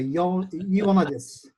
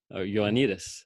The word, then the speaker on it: Ioannidis: Let me just try one of the Ioannidis. Ioannidis. Yes, with the accent on the last syllable. Ioannidis on the next last syllable.